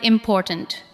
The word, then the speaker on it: important: Listen to the word important. Important. The second part receives the strongest beat.